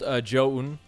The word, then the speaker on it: ZOUN: from what I've seen, it's pronounced ZOUN. So sometimes it can sound like John.